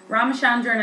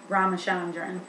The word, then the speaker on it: Ramachandran: name but it's um villa yanner s ramachandran ramachandran i did hear that in the videos i'm pretty sure that's roughly how you say it a lot of times you'll see vs ramachandran anyways he came about